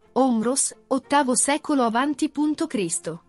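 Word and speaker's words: Ὅμηρος: Omero, in greco antico, Omros, pronuncia, Omros, ottavo secolo avanti punto Cristo.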